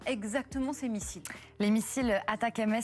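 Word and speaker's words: ATACMS: ces missiles les missiles attaque MS sont l'acronyme de Army tactile missile système prononcé en anglais attaquem traduisz attaquezles c'est ici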